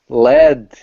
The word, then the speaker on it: lead: I pick up lead because it can be used as a verb, but if it is pronounced led, it is a noun, a subject, a metal, A very heavy metal. a heavy metal, a very heavy metal.